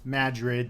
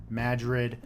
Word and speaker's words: Madrid: yes it is pronounced madrid there's an emphasis on the mad part so before you say